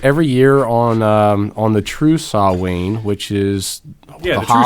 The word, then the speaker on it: Samhain: In Gaelic, M and H make the W sound. Oh, so it's spelled Samhain, but it's pronounced Samhain.